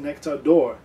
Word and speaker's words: Nectar D'Or: pronouncing nectar door because it is scott's gaelic and if you don't